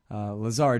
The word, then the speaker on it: Lazare: and I'm so sorry I've been saying your name wrong this whole time too Lazar Daniel Lazar you can find him